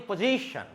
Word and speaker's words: position: Remember, this is TION, syllable in the end, so it should be before TION, C, it should be raised. Position, okay? Position, formation, installation. I told you earlier, the syllable before TION, that should be raised and stressed up, okay?